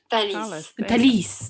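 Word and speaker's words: Thalys: oh I didn't turn her up sorry Talis talisis did you hear that that's how you say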